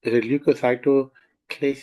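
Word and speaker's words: leukocytoclasis: destruction of the vessel ball now this is lucyo clis is one word I have actually broken it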